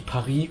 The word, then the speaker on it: Paris: Theoretically, an example where it doesn't work out like "Paris" or "Peking" which are actually "Paris" & "Běijīng" .